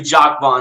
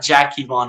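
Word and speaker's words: Jacque Vaughn: Know Jack vaugh yes it's actually Jack vaugh not jackon as I've pronounced his name in the past but as you see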